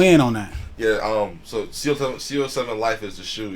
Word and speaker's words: CO7LYFE: So CO7 Life is the shoe. It's spelled CO7LYFE.